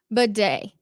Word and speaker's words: Badie: So Tyler Badie, that's how we need to make sure we go forward saying it.